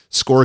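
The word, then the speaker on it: SCORRE: SCORE Conference is spelled S-C-O-R-R-E, SCORE Conference.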